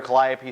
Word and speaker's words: Calliope: The joke there, Calliope, down here Calliope Street is pronounced Calliope.